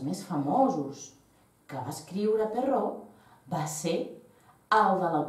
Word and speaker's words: Perrault: S'escriu Perrault, però es pronuncia Perrault perquè era un senyor francès.